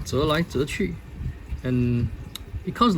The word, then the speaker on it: 折來折去: I got this from China, so it's pronounced 折来折去, and it comes like directly translate to folding and folding with interest.